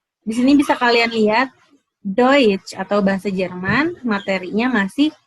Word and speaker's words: Deutsch: Dalam bahasa Jerman, kalau EU ini dibacanya OI, jadinya Deutsch. Deutsch, bahasa Jerman, Deutsch.